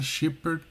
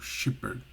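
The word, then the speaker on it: shepherd: mas palavras como essa chiper normalmente é o que a gente chama de dem mudo né Você tem o d mas você não pronuncia ele completamente você pronuncia só o comecinho né chiper e mas nós eu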